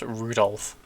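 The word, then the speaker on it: Rudolf: on it's just anyway this guy's name is pronounced rudolph he must be he must hate grandfather for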